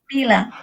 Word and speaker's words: Bila: What is your dog's name? Bila. Bila. She's Bila. Spell it. B-I-L-A. Bila.